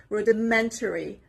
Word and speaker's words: rudimentary: The stress is on the third part, on the third syllable. Rudimentary, on the letter M.